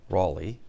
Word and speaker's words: Raleigh: name Sir Walter Raleigh Americans tend to pronounce it Sir Walter Raley like the city in North Carolina British tend to say